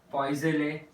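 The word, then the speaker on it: Poiseuille: इट इज पॉइज़ले equation. So इट इज EUI, spelling बड़ी अजीब सी है, LLES, पॉइज़ले इक्वेशन.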